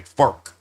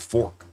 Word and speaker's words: FARC: Yeah, FARC is pronounced FARC like not like fart but with a K. Fark, not fork.